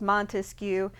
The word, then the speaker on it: Montesquieu: you know if you if you clap it out three syllables montesquieu um and he proposes